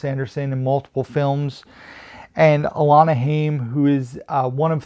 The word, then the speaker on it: Alana: school for picture day alana elena orlana i think it might be alana because it's spelled a-l-a-n-a so alana works for